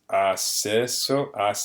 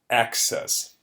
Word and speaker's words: access: english one and um one thing to notice about this word is the pronunciation so in spanish it's asses but in english it's a little bit different these two letter c's together are they're not too common in english but when you do have them two c's next to each other they actually pronounce like an x so x access access access like a letter x imagine that those two